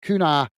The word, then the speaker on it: Cunha: So it's Kuna, who's been booked by the referee, the Wolves player. Is that how you pronounce it? Kuna. Cunha.